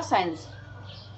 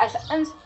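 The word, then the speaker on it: essence: जो ई है वो साइलेंट है, तो जगह सेंस, नॉट एसेंस, सो हम कहेंगे, प्रोनाउंस करेंगे सेंस।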